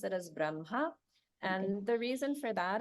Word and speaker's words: Brahma: the spelling is correct the H comes first that is the grammatical uh correct spelling but the pronunciation is that we switch it so it would be like Braha or brahan van he